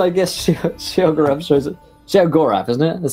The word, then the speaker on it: Sheogorath: Sheogorath, isn't it?